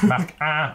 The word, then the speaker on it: Hein: C'est un jeu de Mark Hein, je sais pas comment, H, oui, Mark Hein, prononcé à la nordiste, illustré par Stéphane Lorenz.